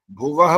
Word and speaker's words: भुवः: हाँ बस यही सिखाना था, ये नहीं लगी ना मात्रा, इसलिए भुवः नहीं बोल सकते, भुवः बोलना होता है।